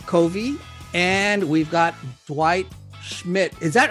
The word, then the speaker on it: Schmidt: We have Covey and we've got Dwight Schmidt.